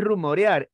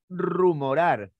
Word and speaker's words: rumorar: si no es reivindicar no es rumorear es rumorar tampoco es dentrífico es